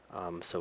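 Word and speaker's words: そ: the last sound is so sound so um just to give an example the so sound sounds like the O in Sophia um the C Sound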